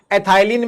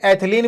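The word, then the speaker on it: ethylene: एथाइलिन भी कहते हैं, एथिलीन भी कहते हैं, अपना अपना प्रोनाउंसिएशन है, जिसकी जो मर्जी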